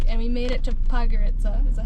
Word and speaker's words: Podgorica: this whole week, and we made it to Podgorica. Is that how you say it? Podgorica, yes, the capital.